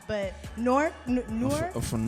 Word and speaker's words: Newark: I don't know if I'm gonna say it right because I'm not, but Newark. I'm from Newark. It's like you saying Fork, Newark?